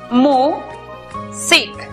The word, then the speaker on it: music: La primera sílaba es abierta porque termina en vocal. Por lo tanto, aplicamos el sonido abierto de la vocal u, miu. La siguiente sílaba es cerrada porque termina en consonante. Por lo tanto, aplicamos el sonido cerrado de la vocal i, sic. La pronunciación para esta palabra es music.